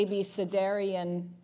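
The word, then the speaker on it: abecedarian: of time are the ab sedarian study which is spelled just as it sounds ABC Darian study and the Perry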